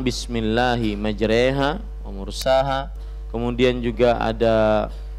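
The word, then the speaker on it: مجريها: bahwa Hai pengucapan bismilahi majreha wa mursaha kemudian juga ada dari lafadz-lafadz yang lain padahal tulisannya majroha Kenapa dibaca majreha Ini semua adalah riwayat hafs dari ashim jadi memang eh alsim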